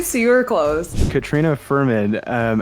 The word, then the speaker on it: Fuhrman: going to ask you how do you say your last name just Ferman actually so you close Katrina Ferman um how are you